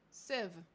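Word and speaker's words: sieve: How do you pronounce that?unation English. Civ apparently is how you're supposed to pronounce them. Today I learned civ.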